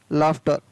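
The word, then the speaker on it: laughter: LAUGSTR, लाफ्टर, तो यहाँ पर भी GS से क्या बन रहा है, फ।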